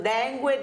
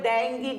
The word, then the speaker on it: dengue: grassigli intanto dottor sganci sentiamo Come si pronuncia Perché ognuno che così la pronunciamo nella maniera Gi dengue dengi Deng Come si pronuncia ma direi che entrambe le pronunce van bene ecco non è un problema quello e abbiamo già capito